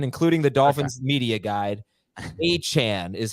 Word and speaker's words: Achane: Achane is how he wants it pronounced, according to Adam Schefter.